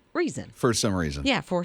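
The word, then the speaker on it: Reezon: is reason but it's r-e-e-z-o-n but it is pronounced just like reason for some reason yeah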